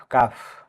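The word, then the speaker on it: calf: L letter silent থাকবে সি এ এল এফ কাফ মানে বাসর এখানে লেটার ডিসাইন থাকবে এই ওয়ার্ডটিতে এল এর পরে এফ আছে তাই এখানে এল লেটার ডিসাইলেন থাকবে এ সামুদ্রিক মাছ এখানে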